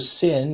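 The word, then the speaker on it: שׂ: so you can see it's called a sin if the dot is on the left side of this and if it's pronounced like an S right and then if the dots on the right side then it's pronounced as she like in the word shop here it's like in the word sour um so this is the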